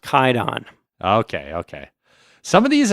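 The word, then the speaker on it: Kwaidan: a a weird historical thing but it's actually pronounced kaidon okay okay some of these I was reading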